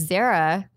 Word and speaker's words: Zahra: light and then there's Zahra print like similar to Sarah which is like a